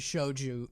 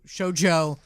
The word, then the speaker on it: shoujo: okay this is shoju shojo learn how to say it it's really not hard joe this is the first time i've heard this you know the name joe and you know the word show yeah just put those